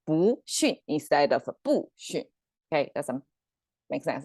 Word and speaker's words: 不: no concept in chinese the sound will change depends on the sound of the next character so in this second